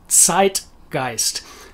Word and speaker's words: Zeitgeist: any of our words but in german that's the way that a zed works so it is zeitgeist and the porter guys